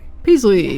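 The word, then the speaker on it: Peaslee: Paisley or Presley? Nathaniel Wingate Peasley. Peasley Yes, pronounced that Peasley.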